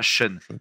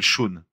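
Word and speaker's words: Shaun: Ouais pas Shun. Ouais, il s'appelle Shon. Ça se prononce peut-être pareil en anglais mais mais je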